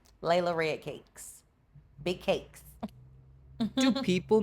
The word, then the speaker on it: Layla Red Cakes: They call me Lala, or they call me Lady Red Cakes, and I don't know where that came from, but it's Layla Red Cakes.